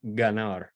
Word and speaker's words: ganar: me the example uh for the hard G or a g coming before an AO or U this is like great Greece is the color gray or ganar which is to play